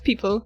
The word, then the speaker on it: Pipl: i miłości do kosmosu jego wymawiamy tak samo jak People reprezentuje nowe pokolenie to